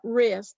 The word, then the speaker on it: wrist: Like the information about wrist, the silent W, learning to spell that word so that when you have to write it, you can write it.